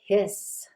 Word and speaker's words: His: ventricular bundle or that bundle of hiss with only one s when you spell it atrial ventricular node or